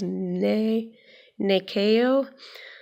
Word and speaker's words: Nyakio: how to say this it looks like nyakio but the pronunciation guide says nee nee KO in a way it's